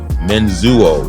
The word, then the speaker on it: Menzuo: It's spelled the way it sounds.